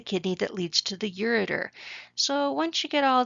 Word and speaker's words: ureter: It's really supposed to be pronounced ureter.